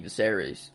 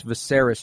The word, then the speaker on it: Viserys: I don't know why I thought it was such a massive time jump whenever King Viserys. Is that how you say it? Viserys, yeah.